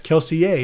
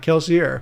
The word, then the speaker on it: Kelsier: And he mentioned in that interview, he said, I've been told that I say the name wrong, that it's Kelsier and not Kelsier.